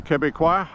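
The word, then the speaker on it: Québec: the way if you're FR Franco American that's pronounced Quebec English it looks like Quebec but it's the Quebec the cuqua and uh ice hockey is Big used to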